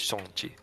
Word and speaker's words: Shang-Chi: So it's spelled Shang-Chi, but that's obviously not how you pronounce it. It's Shang-Chi. Or Shang-Chi. I should say. Shang-Chi. Mhm. There you go. Because, it's Mandarin or whatever.